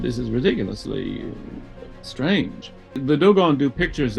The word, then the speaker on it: Dogon: And he said, "But the most amazing African tribe are called the Dogons. The Dogons." He mispronounced what we now know as should be Dogon.